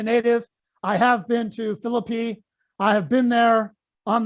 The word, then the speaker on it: Philippi: virginia native they want you to know it's pronounced phillippe not philip high and i always get that mixed up okay i i will say with respect to the west virginia native i have been to philippi i have been there on the heights of